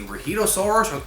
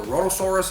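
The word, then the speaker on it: Rhedosaurus: nuclear tests in Antarctica unleash the rohitosaurus or the rotosaurus how did this it's one of the two ways to pronounce it um onto the world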